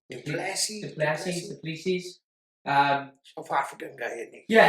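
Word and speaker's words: du Plessis: Duplessis.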